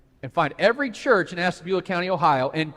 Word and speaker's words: Ashtabula: Ohio called Ashtabula County I said it right by the way first five times I did this I did it wrong and you should have heard the backlash it's Ashtabula not Ash tabula County Ashtabula County I learned my